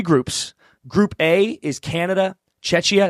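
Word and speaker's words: Czechia: Chetchia. That's how you say it, right? Chetchia. Czecha. Is it though? Yeah, it is. Czecha.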